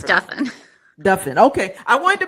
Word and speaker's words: Duffin: it up you know because it sounds like muffin right it's pronounced like muffin and Duffin is